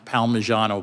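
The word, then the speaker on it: Palmigiano: In footnote one in Baxter versus I think it's pronounced Palmyano, but don't hold me to that.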